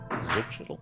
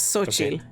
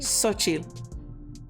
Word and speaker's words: Xochitl: So we have Fireheart, Ravenwood, Zenor, Whisperwind, Starforge, Zutchitl. No, I knew you were going to say that wrong. I don't know how to pronounce that. That's like Mexican. It's Xochitl.